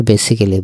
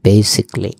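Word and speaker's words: basically: আমরা বেসিক্যালি বলি। ইটস not correct. এটা হবে বেসিকলি।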